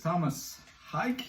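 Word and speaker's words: Tomas Haake: So my number 7 is Thomas Hike.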